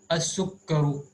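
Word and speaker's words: السكر: As-sukkaru means the sugar. Here same huruful shamsiya. Sin is from huruful shamsiya.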